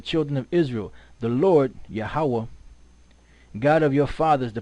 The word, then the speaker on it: Yahweh: This is what how this guy pronounces it in here, right? Listen up. Strong's H 3068. Yehovah. Yehovah. Right, so he said Yehovah, right, which is close, but it's not the Most High's name, right?